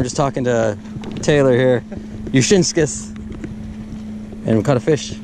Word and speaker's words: Jusinskas: I thought it was like Jusinskas or something like that. Oh, the J is silent. Nice. The J is silent? The J is silent. Jusinskas. Oh, Jusinskas.